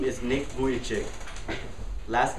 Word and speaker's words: Vujicic: write down this name the name is nick boyachie last name is spelled v-u-j i-c-i-c now that you know his